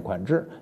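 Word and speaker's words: 款识: 款制啊，准确发音念款制，你读款识就读款识了。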